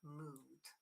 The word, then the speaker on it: mood: But there are exceptions like mood. Moon is long, okay.